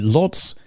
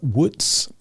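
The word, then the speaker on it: Łódź: Lots is pronounced w.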